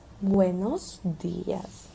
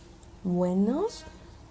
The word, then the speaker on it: buenos: We have wenos wenos. Let's practice the pronunciation v.